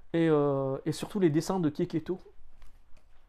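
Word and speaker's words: Checchetto: Et surtout les dessins de Keketo, Ça s'écrit chez Cheto, mais c'est Keketo.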